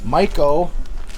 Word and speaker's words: Meyco: anchors in as well this is a black mako or mico cover however you want to say it or however they want you to say it but it's spelled m-e-y-c-o mico is how they officially say it but a lot of people say mako when you get this